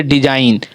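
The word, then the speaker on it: design: जैसे डिजाइन, DISIGN, डिजाइन, लगता है कि इसमें जी नहीं भी है तो पर भी ये उच्चारण क्या होता है हमारा, डिजाइन, लेकिन डिजाइन का स्पेलिंग यही होता है।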